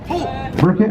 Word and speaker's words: Burkhay: Okay, Young Miss Rosamond Raylene Joaquin, Junior Miss Mojave Cadence Collette, Teen Miss Mojave McKaylee, is it Burkhay? Burkhay, okay. The H is silent, as it would be.